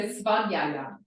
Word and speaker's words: svadhyaya: So that's So I would go for this one, I'd go ya. So ya is easy to pronounce, right? The end 4 letters. Yeah. So svadhyaya.